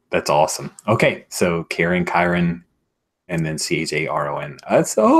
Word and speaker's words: Chiron: much Patrick Chiron right am I saying it correctly Chiron yes like the the Greek Archer Center Sagittarius but you know sort